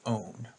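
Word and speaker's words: -one: have the suffix own yes it looks like the number one but it's pronounced own and in terms of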